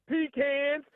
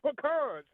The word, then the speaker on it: pecans: people say pecans and some people say pecans. It's one of those things that if you're from the south, you figure out how to put your tongue to the roof of your mouth.